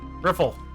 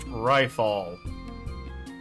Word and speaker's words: Riffle: Riffle. Hey, you private second class. My name is pronounced rifall.